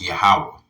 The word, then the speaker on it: Yahawah: Whenever you see Lord in all capital letters, that would be pronounced Yahawah.